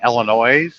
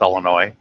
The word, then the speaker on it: Illinois: keep correcting her because she keeps saying Illinois I said it's Illinois but it's got an